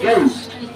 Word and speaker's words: ghost: ghost में H silent रहता, it's ghost।